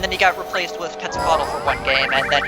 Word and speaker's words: Quetzalcoatl: Quetzalcoatl, thank you. You know, I never been able to pronounce that when I was a kid.